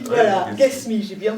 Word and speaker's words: Guesmi: Ghasmi, voilà, Ghasmi, j'ai bien prononcé.